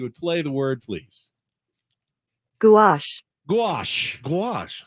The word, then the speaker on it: gouache: Gouache, spell it. Gouache. Gouache. Gouache. Like a goo.